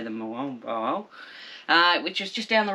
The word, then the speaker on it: Moalboal: It's Moalboal. Moalboal.